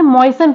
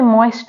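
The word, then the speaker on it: moisten: next word है मयन इसे मयन पढ़ते हैं इसे मोइस्ट नहीं पढ़ते यहां पे टी है वो साइलेंट है नेक्स्ट वर्ड है बुचर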